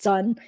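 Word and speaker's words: Singh: I just tell people my last name is sing like sing a song but that's not the correct way to pronounce it at all so it's really pronounced Sun but nobody can pronounce it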